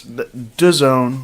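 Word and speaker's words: DAZN: you brought it not how to pronounce it it's it's like dzo any or dzo in its disowned like duh man so it's the worst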